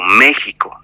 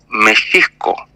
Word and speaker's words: México: tú lo lees se se lee Como México no pero en realidad es México o por ejemplo Xochimilco